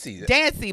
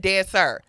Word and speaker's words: Dancie: Dancie, but you said dancer.